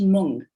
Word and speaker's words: moong: the mung bean it's it's pronounced mung in india so that's the spelling and in fact now